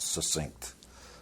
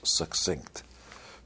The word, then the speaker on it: succinct: succinct by the way that's the correct way to pronounce that word not succinct It's like success, succinct.